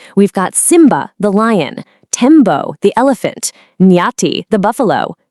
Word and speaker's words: Tembo: Let's get the pronunciation right. Tembo.